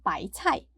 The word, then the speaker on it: 白菜: as i mentioned before the chinese pronunciation of cabbage is by tight it sounds similar to bai tai which means a hundred treasures that's why a lot